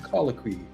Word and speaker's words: Colloquy: And it means a conversation, a gathering for discussion, a colloquy.